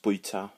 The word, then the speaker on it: bwyta: So it's bwy. So like a boy in a harbour, I guess, and ta, which sounds like thank you.